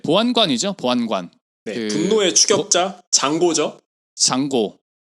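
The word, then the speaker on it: Django: 보안관 분노의 추격자 잔고죠 장고 장보고 d는 묵음이다 이게 원래 잔고 분내추격자에서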